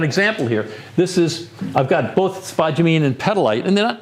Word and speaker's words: spodumene: Okay, so the next two are minerals, spodumene, which you wouldn't even know how to pronounce it, but spodumene it's called, and petalite.